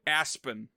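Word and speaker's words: A-spen: group of 3 aliens whose names are Allie, Alan, and Aspen, but it's spelled out A hyphen capital letter of the rest of the name. So A hyphen Lan, A hyphen Lee, A hyphen Spen.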